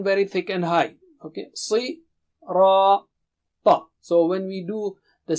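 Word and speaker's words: صراط: Okay, si, ra, ta. So when we do the syllable practice, you can remember these signs so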